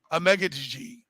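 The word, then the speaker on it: Amegadjie: I said Mel where you got uh Kieran a mega g a megga g uh going and he by the way he pronounced it a lot better uh k i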